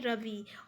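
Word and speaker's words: রবি: इसका nick name है रवि, और अगर हम लोग बंगाली में इसको प्रोनाउंसिएशन करेंगे तो रोबी होगा।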